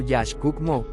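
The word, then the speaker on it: Yax K'uk' Mo': El pueblo Chorti de Honduras es conocido por su primer gobernante, Jack Ukmo, pronunciado Jash Cookmo, quien fue el fundador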